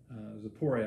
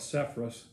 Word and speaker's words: Sepphoris: Zapori, I think, is how it's said over there, but we call it Sepphoris.